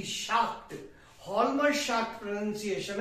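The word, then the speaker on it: Schacht: नाम द लमर शकट देखिए स्पेलिंग आपको अलग देखने को मिलेगी एच जे ए एल एम ए आर लमर इसको बोलते हैं लमर और शकट एस सी एच ए सी एच टी शकट लमर शाक प्रोनंसिएशन है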